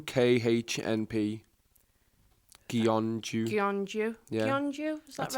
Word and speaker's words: Gyeongju: From, and I am not going to pronounce that team name. Gyeongju, KHNP. Gyeongju.